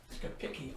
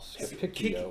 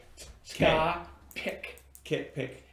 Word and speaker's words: Scapicchio: Capicchio. Scapicchio. Oh, Ska, pick, pick. Got it. E-O. Phonetically, that is. Got it. Like, Thanks, guys. It's like Pinocchio, Scapicchio.